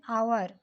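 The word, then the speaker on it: hour: Then आवर, आवर vowel type से उच्चारण आ रहा है।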